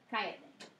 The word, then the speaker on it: Cállate: Cállate. Just you can't forget to accent the third to last syllable.